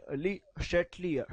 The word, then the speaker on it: Le Chatelier: Okay, ना correct pronunciation is basically ली चैटलियर, श बोलते हैं इसको। However, we Indians we pronounce it Chetlier, so I'm going to pronounce Chetlier.